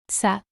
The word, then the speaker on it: ça: It's used in French and other languages like Portuguese and Catalan to indicate that the C should be pronounced like an S sound, as in sa, which is pronounced sa. The cadil is placed underneath the letter C to change its usual K sound to this S sound.